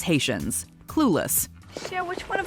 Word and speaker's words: Haitians: about immigration policy Sher pronounced the word Haitians as hadan so okay like right